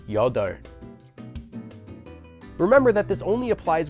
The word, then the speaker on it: 여덟: A very common exception to this rule is the word for 8, which is pronounced the opposite way as 여덟.